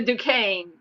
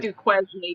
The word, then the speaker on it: Duquesne: That's the Duquesne. It's spelled like Duquesne, but it's Duquesne.